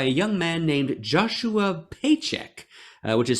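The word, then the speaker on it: Pchajek: young man named Joshua paycheck which is spelled p-c-h-a-j-e-k but he said it's pronounced paycheck so I believe him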